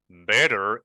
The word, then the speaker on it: better: Here I have better in American pronunciation. Better. Sometimes this sound is represented by a flap T sound.